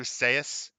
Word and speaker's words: Seuss: to open his books on Dr Seuss Dr Seuss because that's how you're supposed to say his